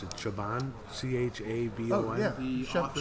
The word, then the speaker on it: Chabon: I don't know how you pronounce it. Chabon, Chabon. Oh yeah, the author, Shaman. Michael Chabon.